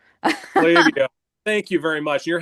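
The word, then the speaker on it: Klaviyo: Uh where people struggle is it's it's my company is pronounced Claio. Clavio.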